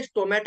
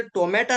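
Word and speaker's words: stomata: agro अल्गीला नाव दिलय स्टोमॅटो ऍक्टिव्हेटर बरेचश लोक म्हणतात सर टोमॅटा नाही स्टोमॅटा म्हणतोय टोमॅटो नव्हे शब्द पहा आणि स्पेलिंग पण पहा टोमॅटो नव्हे स्टोमॅटा ्टिवेटर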